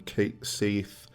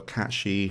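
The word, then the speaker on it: Cait Sith: we got Red 13, Kate Seath, or Katshi, however you want to pronounce it. I'm a Kate Sith guy, but Katshi.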